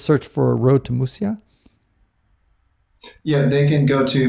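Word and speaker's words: Muxía: if they just search for a road to mushiya yeah they can go to Facebook they can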